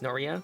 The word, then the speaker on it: Norea: when you first meet noriel she's uh noriel sorry Nori I think it's noria that's how it's pronounced so anyways she kind